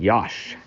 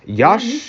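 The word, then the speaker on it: Iași: We are in Yash. Yash is actually IASI. Mm-hmm. So I guess S and I is pronounced shush, like shush.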